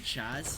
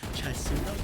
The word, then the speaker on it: Chasudo: You know, and I'm very happy you just pronounced his name flawlessly, because I was just calling him Chaz, because I had no idea that it was Chasudo, but now I know.